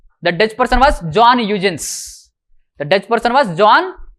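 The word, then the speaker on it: Huygens: very secretively just write down that name John eugin H u g ye NS okay John eugin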